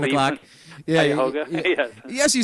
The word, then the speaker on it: Cuyahoga: Yeah, Cuyahoga.